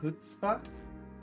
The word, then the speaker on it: chutzpah: It's pronounced chutzpah. You don't pronounce the C?